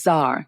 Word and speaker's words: Czar: to see this spelling there's a C before the Z so so you are the founder of Zar clothing and Serena clothing